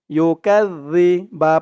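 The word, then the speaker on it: يُكَذِّبُ: আর এখানে জালের উচ্চারণটা একদম নরম পাতলা করতে হবে। জিব্বার মাথা ওপরের দাঁতের মাথার সাথে লাগবে এই জালের উচ্চারণটা করার সময়। أرأيت الذي يكذب, ইয়া পেশ ইউ,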